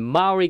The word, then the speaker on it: Maury: much for tuning in maury county that's how they pronounce it there 12 20.